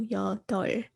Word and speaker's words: 여덟: In 여덟, you pronounce the riul, so 여덟.